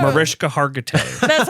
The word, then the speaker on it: Hargitay: Haggerty! And then fucking bounces. Yes, it is Mariska Haggerty Haggerty? of I don't know how to say her TV last fame. name. Oh, Mariska Hargitay.